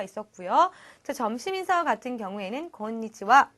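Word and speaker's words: こんにちは: 점심 인사 같은 경우에는 권 리지와 라고 하는데 읽을 때 히라가나 하 를 쓰지만 와 로 발음을 한다는 것 그렇죠 특이사항 이었고 그리고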